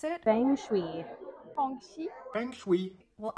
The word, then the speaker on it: Feng Shui: It's pronounced Feng Shui in Cantonese. Feng Shui. Feng Shui. One more time. Feng Shui. And in Mandarin, it's Feng Shui. Feng Shui. Feng Shui. Hear the difference?